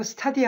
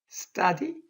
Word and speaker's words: study: 예를 들어 study. 이거 study 하면 안 돼요. Do you study English? 안 됩니다. Do you study? 된 발음이 나게 되는 겁니다.